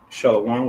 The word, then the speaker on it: Shalom: So you say Sabbath, and we have a Shah, a La, a Wa, and a Ma, which is Shalom, which just means peace, peaceful or whole.